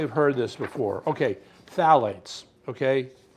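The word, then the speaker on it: phthalates: Phalates. Okay. Right there. Phalates. Just ignore the P there. The P is silent.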